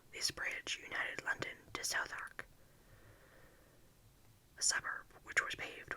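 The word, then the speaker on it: Southwark: as 1666 had proved southark was then pronounced sultry it is now pronounced so so hot or near it indeed an excellent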